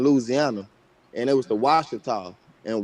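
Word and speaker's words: Ouachita: That's where, and the Washita's not spelled with a W, it's spelled with a Q.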